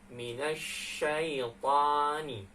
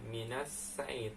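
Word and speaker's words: مِنَ الشَّيْطَانِ: Bacanya menjadi minasyaitani. minasyaitani. Ya, coba teman-teman. Minasyaitani. Ya, minasyaitani. Nah, pas ketika shinnya itu tebal, jangan minasyait. Nah, itu ada salah.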